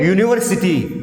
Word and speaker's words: university: Again university, the spelling starts with U, but the pronunciation starts with year.